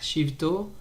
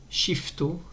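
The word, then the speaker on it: שבטו: Rak shivto, il faut faire attention à ne pas dire shifto avec un fait, mais de bien prononcer le vet de Shivto. Rak Shivto.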